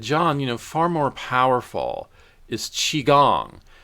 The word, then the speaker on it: Qigong: I received almost immediate help from the acupuncture and tea, but he said, John, far more powerful is Qigong. And it's spelled Qigong.